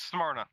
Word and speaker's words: Smyrna: Jamie, you're best with pronouncing stuff. It's Smyrna.